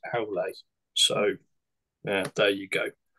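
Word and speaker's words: Aulë: I actually pinched the word from Tolkien. It's one of the Valar in Middle Earth. But apparently that should be pronounced Aule.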